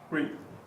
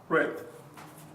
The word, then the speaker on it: read: So, for example, this is, Read. and in the past, Red.